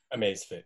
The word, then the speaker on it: Amazfit: Amazfit, or and then for him. Amazfit, yeah.